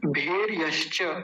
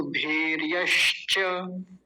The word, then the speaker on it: भेर्यश्च: अगला शब्द देखिए भेर यश्च। भेर, भेर भेर में र आधा होगा ये क्योंकि ऊपर चढ़ा रखा है ये यहाँ पर तो ये आधा ही होता है। भेर यश्च, यश्च तो वही है पहले जैसा ही भेर यश्च।